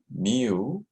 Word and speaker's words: mu: about and how do we pronounce this we pronounce this mu and this refers to population mean which is